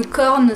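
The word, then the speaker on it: Quorn: Moi j'adore la fausse viande par exemple, le seitan c'est super bon, le corn ça s'écrit Q-U-O-R-N, ouais ça doit être ça.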